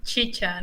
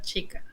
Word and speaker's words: chicha: far from peru right have you ever the pronunciation is chicha no chica ah see i knew there was a good